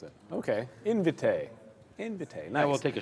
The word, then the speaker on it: Invitae: Oh, that's how you pronounce it. Okay, Invitae.